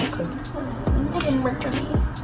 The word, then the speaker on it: Anastasia: Anastasia.